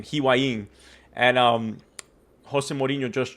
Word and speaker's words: Higuaín: That's That's how you say his name, Higuaín.